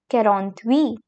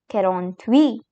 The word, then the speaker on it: quarante-huit: quarante-six And here we have 47, which is called as quarante-sept quarante-sept Then comes 48, which is pronounced as quarante-huit. quarante-huit And now comes 49, which is called as